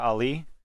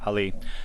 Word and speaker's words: Ali: of the movie, Mahershala Ali, I said his name wrong, Ali, the main actor, walking